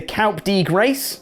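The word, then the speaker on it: coup de grâce: a blue thunderbomb cole balor one with the calp d grace that's how you pronounce it right which is a nice win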